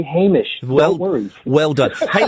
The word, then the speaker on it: Hamish: If we were to say his name again, believe me, we've been corrected often enough by now that we would say Hamish.